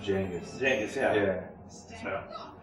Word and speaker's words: Genghis: Do you get upset when people pronounce Genghis? Yeah. It's actually supposed to be pronounced Genghis.